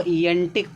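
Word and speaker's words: antique: इसको देखो एंटिक पढ़ेंगे। देखो क्यू यू ई लास्ट आया ना जब क्यू यू ई आएगा तब इसको उच्चारण सिर्फ का निकलेगा। एंटिक पढ़ेंगे हम।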